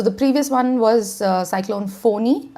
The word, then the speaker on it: Fani: rotational order so the previous one was cyclone fawni it's written funny but it's pronounced phoney it is the name was suggested by Bangladesh